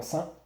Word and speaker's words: sens: Le bon sens, S-E-N-S. On ne prononce pas le S. Des fois, on va l'utiliser, le S, c'est-à-dire on va le prononcer.